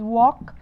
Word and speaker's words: walk: We have the word walk, يمشي ما بقولش walk.